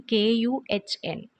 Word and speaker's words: Kuhn: Kuhn spelling KUHN. Okay, so here H is silent, so we say Kuhn.